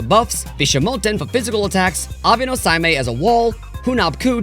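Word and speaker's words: Abe no Seimei: Also, yes, I'm now aware that it's pronounced Abeno Saime. Abeno Saime.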